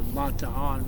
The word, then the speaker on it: Bataan: Well, this Bataan Death March, or Bataan, which is the proper pronunciation.